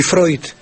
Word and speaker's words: Freud: Toma, toma el ejemplo de palabras como Oiler y Freud, que están escritos Euler y Freud, ¿verdad? Pues ya muchas, muchas personas saben que eu en alemán se pronuncia hoy, ¿verdad?